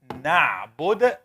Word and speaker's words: نعبد: Na'bud has a letter that we studied. What letter and where does it come from? Only na'bud. You can look at it. Tell me what letter. What letter? Ain. Comes. You said it right now. Where does it come from? The lower? Is it the lower? Middle throat. Ahsanti.